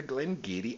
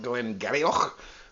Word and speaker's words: Glen Garioch: And this month we are super excited to offer the Glen Garioch 8-year-old. Watch out for that pronunciation. It looks like Glen Garioch, but it's not. It's Glen Garioch.